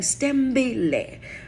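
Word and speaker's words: Sithembile: s-t-e-m right rather than stem belay you know which a lot of people will expel that s i t h e m b i l e stem the i and the h are silent so it's pronounced s-t-e-m-b-i-l-e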